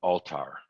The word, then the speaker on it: Althar: Yeah, actually, the book, he pronounces it Altar. Altar.